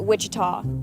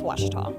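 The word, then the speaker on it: Ouachita: for wasita Baptist University back in Texas everybody pronounces it Witchita but really it's wash wash was how would you pronounce it wash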